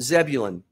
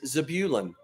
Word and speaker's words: Zebulun: All my life, I've called it Zebulun. But the actual pronunciation is Zebulun.